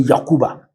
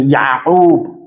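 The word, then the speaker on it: Yaqub: They will tell you, no, don't say Yakuba, but you say Ya'ub.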